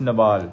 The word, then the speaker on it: Nawal: bahut allah ki qasam your name pronounces pronounced Nawal Nawal not Naval not Naval not Naval I swear